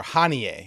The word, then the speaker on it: Haniyeh: Haniyeh was Hamas's, or Haniyeh is how you say it.